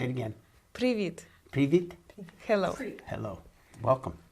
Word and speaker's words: Привіт: How do you say Привіт. Say it again. Привіт.